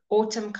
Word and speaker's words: autumn: sometimes say both okay when the m and n when the end comes first before the end and it's at the end of the word you don't say the end you just say the M autumn : damn him okay however if the M